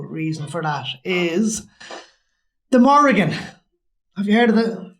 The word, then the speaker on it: Morrigan: know one possible reason for that is the Morrigan have you heard of the spelling m-o-r-r-i-g-a-n no